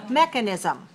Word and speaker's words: mechanism: are only two dots although in writing there are three syllables in speaking there are four so let's say it slowly mechanism mechanism right so if we look at it in terms of oral then we can say it has four syllables and it's stressed on the first four one good that's